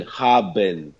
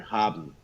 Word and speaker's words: haben: So, for example, in German, you would say the word to have is written haben, right? But you would pronounce it faster, haben, like, haben.